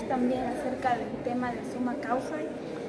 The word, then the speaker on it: sumak kawsay: Bueno, hablar del summa causa, primero hay que corregir el tilde de la porque es como un insulto para la nacionalidad del pueblo cuando decimos summa causa, entonces la pronunciación correcta es el causa, summa causa.